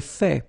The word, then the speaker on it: fait: J'ai fait. So remember, final T is not pronounced.